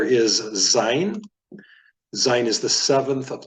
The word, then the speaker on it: Zayin: This letter Zayin is pronounced like the Z, as in zebra, and in fact that is a Hebrew word.